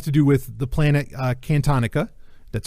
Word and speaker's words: Cantonica: And these are 4 stories, I think it was 4, that have to do with the planet Cantonica. That's how you pronounce it.